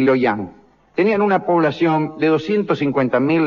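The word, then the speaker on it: Luoyang: Hang, Shang Hang y Loyang, lo pronuncié mal, eh, es Shang Hang y Loyang, tenían una población de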